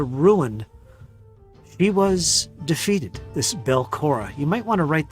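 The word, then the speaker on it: Belcorra: of it into ruin he was defeated this belkora you might want to write that down bell cora i'll spell that if you need it it's b-e-l c-o-r-r-a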